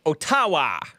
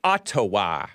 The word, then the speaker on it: Ottawa: you about this ottawa the way it's spelled i want to call it otawa sorry guys sorry canadians well forgive me i'm guess i'm not sorry but it's ottawa right that's what i hear